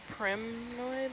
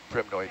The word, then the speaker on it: primnoid: Say what they were called again, a primnoid? Or? Primnoid. Primnoid. Primnoid. P-R-I-M-N-O-I-D. Primnoid. I've also heard it pronounced primnoid.